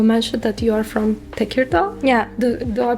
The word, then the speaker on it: Tekirdağ: So, as I asked you, you mentioned that you are from Tekirdağ. Yeah. Do I pronounce it right?